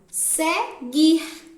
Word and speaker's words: seguir: Segunda palavra, seguir. Guir. Não sai o som do U.